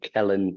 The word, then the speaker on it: Kelain: Uh just type in the name Kellen.